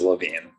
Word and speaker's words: Levine: It is Levine.